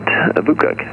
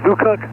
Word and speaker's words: VUCOC: Did you say Bukuk? Yes, sir. Bukuk inbound on the RNAV runway 32. Okay, we'll do 6871 Delta. I thought he had 3 syllables there. He said VUCOC, V-U-C-O-C.